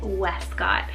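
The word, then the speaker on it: Wescott: Then I have Westcott, spelled W-E-S-C-O-T-T, Westcott.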